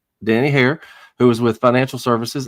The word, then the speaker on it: Danny Haire: Danny Hair. Am I pronouncing that correctly, Danny? That's correct, sir. Danny Hair, who is with Financial Services, Inc.